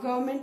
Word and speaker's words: government: write the spelling of government. I've seen you all missing this N. So आपको याद रखना है कि R के बाद भी N आता है government की spelling में, though it is silent.